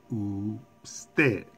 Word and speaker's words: usted: It ends with the consonant letter D. So the stress is placed on the last syllable, usted. Usted.